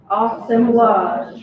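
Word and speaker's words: assemblage: on is awesome blog everybody say with me awesome blush right sounds like a sandwich that's the word american right we pronounce things wrong um awesome blush is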